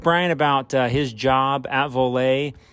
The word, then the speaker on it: Voler: This is giving a short introduction before we move on, where we talk to Brian Trapp from Voler, not Voler, Voler.